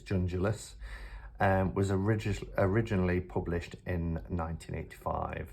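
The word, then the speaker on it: Junjulas: It's not Jungulas, it's Jungulas.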